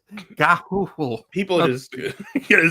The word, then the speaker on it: Gahoole: So it's Gahoole. It's not Gayhole, Chris. Gahoole.